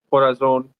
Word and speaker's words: corazón: Corazon.